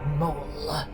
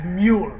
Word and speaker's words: Maul: You shall be known as Darth Maul. I think that'd be a better name for me, master. Do you prefer that or everybody when this movie comes up mispronounces it as mule?